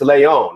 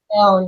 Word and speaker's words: Leon: How you said Spanish people pronounce it one way, and the rest of the world pronounce it Leon. It's Leon, right? Leon, yep.